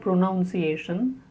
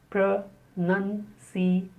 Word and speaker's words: pronunciation: The next is pronunciation, pronunciation, and the stress is on A. Pronunciation. It is not pronunciation, it is pronunciation. The verb is pronounce, but the noun is pronunciation.